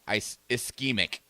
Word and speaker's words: ischemic: It is pronounced ischemic.